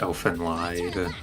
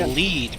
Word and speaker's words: Elfen Lied: Yeah, I watched Elfen Lied. Okay, Elfen Light is really fucked up though. Yeah, it was All I got. you see, it's But actually I pronounced read the manga. Elfin Lead because it's Is it lead?